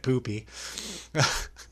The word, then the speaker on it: Pupi: But I looked it up and no, Eli Roth pronounced it Poopy.